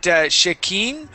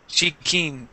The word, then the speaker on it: Shikeen: Is it Shakeen or Shikeen? Chicken. Shikeen. Oh, Shikeen. Okay.